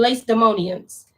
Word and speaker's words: Lacedaemonians: Lacedaemonians. Jonathan the high priest and the elders of the nations and the priests and the other of the Yahudim unto the Lacedaemonians.